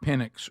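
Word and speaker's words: Penix: messed up and got Pennix wrong. You know, it's very close. I see some the the the person that misspoke pronounced his name with an S, not an X.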